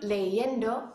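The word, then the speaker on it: leyendo: All right, I hope you said estoy leendo for that last one, which is the correct pronunciation.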